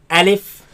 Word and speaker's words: ألف: Now this letter you are to pronounce it fast. Do not say Alif and do not say Alif. Say Alif.